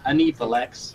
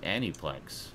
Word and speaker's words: Aniplex: it goes Anipolex. Anipolex. Well, that's just silly. I can't believe that Sean has finally joined the 21st It's spelled- century. It's spelled Aniplex. That's Aniplex.